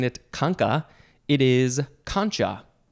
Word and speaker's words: concha: Next is the second form of this same word, but instead of pronouncing it conca, it is concha. Concha, like the way it's spelled. Could also be concho.